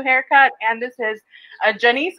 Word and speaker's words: Janice: and this is a janiece rhymes with i always i always point and i don't know which way it's going rhymes with denise producer and founder of